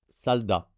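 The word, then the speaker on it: 살다: Et ensuite, le deuxième mot, la première syllabe, il y a un S, puis un A, puis un L. Donc, je lis bien consonne initiale, voyelle, consonne finale. Ça va être sal, S-A-L, sal. Et deuxième syllabe, D et A, da, salda.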